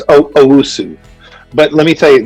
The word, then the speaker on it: Owusu: It's Owusu.